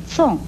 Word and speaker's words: 从: 从又念纵，国语注音是滋瓮纵，四声纵。